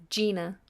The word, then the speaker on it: Gina: this particular instance ly so Gina with a J and Gina with a G I would pronounce both of them Gina what is the main